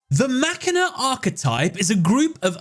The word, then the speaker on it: Machina: While over pronunciation is fine, machina is the correct way to say it. This is because the word machina comes from the Latin word for machine, which you've probably heard